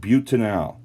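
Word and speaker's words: butanal: you have a four carbon aldehyde it is pronounced butanol not but whatever which is kind of funny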